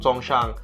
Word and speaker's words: Songshan: know when you when you actually get into Songshan that's how you pronounce it when you get the Hongshan that's